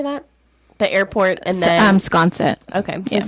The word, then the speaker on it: Sconset: The airport, and then Sconset. Okay, so Sconset.